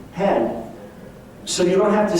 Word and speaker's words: hen: In Sweden, they have now devised a new personal pronoun, hen, pronounced like chicken hen, hen.